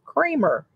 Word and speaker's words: Kramer: there in New York they told us that dr. Kramer pronounces his name creamer k REM ers he pronounces Kramer so I guess the